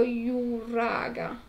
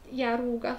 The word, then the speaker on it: Yaruga: I miei uomini riferiscono le truppe in marcia pronte a quadrare lo Yuraga. Yaruga. Strano, perché io mi ricordo che nel libro si scriveva con la J.